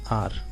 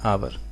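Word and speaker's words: hour: ऐसी देखिए एन आर एच से शुरू हो रहा है लेकिन एक साइलेंट माना जाता है इसमें ऐड सो यू आर और इसका प्रनंसीएशन होता है आर या फिर आवर पर भी बोलते हैं और भी बोलते हैं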